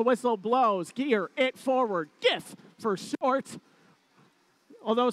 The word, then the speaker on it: GIF: blows gear it forward gif for short although some people may pronounce it jiff both start their climb